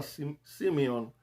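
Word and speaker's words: σημεῖον: La palabra señal es la palabra griega Simeon, S-E-M-E-I-O-N, y se pronuncia como Simeón, pero se escribe diferente en griego.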